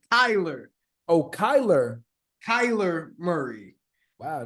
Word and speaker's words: Kyler: said it right Tyler no you said Tyler it's Kyler oh Kyler Kyler Murray